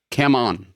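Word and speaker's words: cảm ơn: you, and send us It is Cam on. Is how you say thank you. what is that? Cam on. Come on. Cam on Eileen? Yeah, Cam on Eileen is how you say thank you in Vietnamese.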